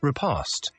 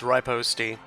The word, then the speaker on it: riposte: this Mission faint Parry repost you'll see why very soon cool guy will probably correct on actually pronounced expertise in fencing I I I already corrected you I'm fine it's ripost God because we captured a